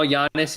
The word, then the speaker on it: Giannis: kind of guys um we know yannis is giannis for the guys in the chat telling me not to pronounce the g uh i see her